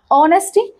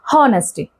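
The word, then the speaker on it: honesty: तो एच तो of course silent है, एच को हम साइलेंट रखेंगे यहाँ पे, क्योंकि हम प्रोनाउंस कैसे करते हैं, ऑनेस्टी ना कि हॉनेस्टी, राइट।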